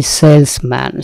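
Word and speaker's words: salesman: যেটা ভার্ব, এরপরে দিয়েছি সেলসম্যান, সেলসম্যান কেন দিয়েছি? আসলে এটি সেলসম্যান না, সেলসম্যান টার্মটি নানা কারণে জনপ্রিয় হচ্ছে, কিন্তু এই সেলসম্যান, সেলস ওম্যান, কিন্তু বিষয়টা কিন্তু সেলসম্যান না, এটা জ, উচ্চারণটা জ, সেলস ম্যান, সে কারণে আমরা দিয়েছি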